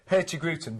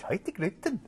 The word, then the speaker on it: Hurtigruten: right now on, well, I pronounce it Hurtigruten, but you pronounce it, how do you pronounce it? Well, my Norwegian ex-girlfriend always used to tell me off for saying that, and she'd go, Hurtigruten.